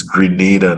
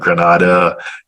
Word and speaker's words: Grenada: It's Dominica, it's Grenada, not Grenada, stuff like that.